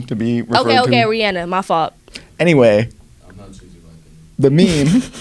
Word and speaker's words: Rihanna: Rihanna performed pregnant. Is it Rihanna or Rihanna? It's Rihanna. No, We say she Rihanna.